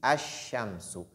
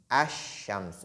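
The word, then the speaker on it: الشمس: Et ensuite, le second exemple, quand je dis Ash-Shamsu, Ash-Shamsu, vous constatez que la lettre Lam, ici, elle n'est pas lue.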